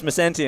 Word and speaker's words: Macenti: I did ask, and it's Macenti, and then I just said it wrong again.